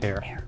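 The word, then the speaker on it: heir: Give these words that in most American accents begin with a silent letter.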